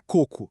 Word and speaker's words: coco: Pensa na palavra coco, sem acento é a fruta. Delícia. Agora, com acento circunflexo, vira cocô. A sílaba tônica, que é a sílaba mais forte. muda de lugar e, bom, a conversa muda completamente de rumo, né?